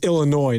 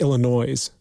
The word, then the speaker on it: Illinois: And it's Illinois, not Illinois.